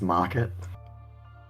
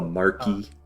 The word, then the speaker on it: Marquee: Also, it's pronounced market. I will destroy you. No, it's the mark I... Trust. Don't you but mean yes. the marquee? Yeah. The marquee, the marquee. It's the marquee.